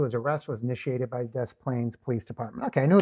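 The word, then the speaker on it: Des Plaines: But Des Plains is pronounced Des Plains, which is makes me curious because okay, it says I was checking about John John Wayne Gayy.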